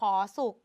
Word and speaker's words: สุข: ส อุ ข สุก เรา เขียน สุข สะกด ด้วย ข ไข่ แต่ เวลา อ่าน เรา อ่าน เหมือน ว่า มี ตัว ก เป็น ตัว สะกด เห็น ไหม คะ ดัง